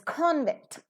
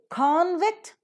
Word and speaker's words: convict: shift of the stress the stress automatically shifts from the first syllable to the second syllable so you don't pronounce